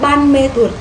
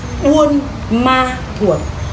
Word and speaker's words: Buôn Ma Thuột: người hỏi chị ơi mình gọi là Buôn Ma Thuột hay là ban mê thuột tùy theo tùy theo